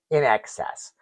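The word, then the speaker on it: INXS: So then there's in excess, their cut, do what you do, not what you do, wh that's how cool the 80s were. Everybody spelled things phonetically or just plain wrong.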